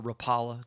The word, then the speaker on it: Rapala: them in yui uh Rapa Rapa Rapala depends on where you're from is how do you pronounce that uh I tend to call it Rapala but um they they